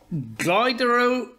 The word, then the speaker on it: Glyderau: Number two on our list for the National Trust sites today is Carnedo and Glyderau in Wales. Thank you for the pronunciation.